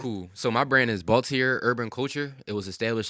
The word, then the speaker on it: Baltiere: so people know how to how to properly pronounce it cool so my brand is baltier urban culture it was established in 2015 it's